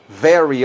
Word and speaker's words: very: Very often. Very, ¿cómo se pronuncia esa palabra? Que es con V. Miren mis labios, mi labio y mis dientes. Very, como si fuera una F.